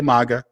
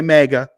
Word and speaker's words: MAGA: his head I know some people don't like the fact that I say Maga they want to say mega but I'm a data guy not a data guy it's just how I pronunciate my A's um but that's why